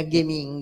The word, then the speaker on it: Geminga: con le parole eccetera questo gen inga letto con alla tedesca diventa gaming a perché i tedeschi gec la pronunciano sempre duri e e quindi gaming